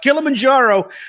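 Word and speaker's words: Kilimanjaro: the Kill A Manjaro more accurately pronounced kilamanjaro Safari uh reason it's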